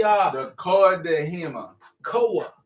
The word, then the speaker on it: Coa de Jima: COA. That's why we gonna pronounce COA. I'm with COA, not COA.